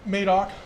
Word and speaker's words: Madoc: It's Madoc, Marmora. Okay. You'll learn those pretty quickly. Madoc, Marmora.